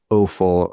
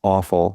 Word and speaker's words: offal: But organ meats, the name that we typically hear with them is called offal, or sometimes pronounced awful, which is appropriate since a lot of people think it tastes gross.